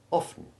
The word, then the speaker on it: often: Note also that the O in often is short, just as it is in soften. Avoid imitating the effective pronunciation of often so that it sounds like orphan.